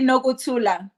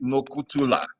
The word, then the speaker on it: Nokuthula: SD, how is it pronounced? You're trying. What's It's it? SD Nokuthula. Okay, SD Nokuthula.